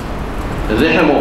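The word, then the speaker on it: رحم: এক বছরে হলো রাহিম রেহেমও বলা হয় সঠিক উচ্চারণ রাহিম র উপরে জবর হা মিম রাহিম রেহেম শব্দের অর্থ আমরা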